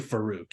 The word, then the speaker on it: Farooq: you guys came to I was doing Farooq but you know I think fari is kind of fun did I say fari it's definitely Farooq you're right faroq venau and